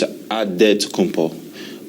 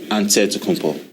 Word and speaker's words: Antetokounmpo: In a Greek way, you gotta say with a D, so it's Antetokounmpo. But in the Greek way, you say with the NT, like Antetokounmpo.